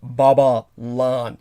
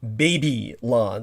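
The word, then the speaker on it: Babalon: in the crowley sense it's b-a-b-a-l-o-n as in baba lan not baby lawn like b-a-b-y-l-o-n as it would conventionally be spelled uh and spelling's very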